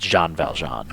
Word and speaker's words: Jean Valjean: It's just pronounced Jean Valjean.